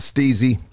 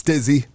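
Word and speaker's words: STIIIZY: big shout out to steezy everybody keep on telling me I'm saying the name wrong they say it's stizzy but I like steezy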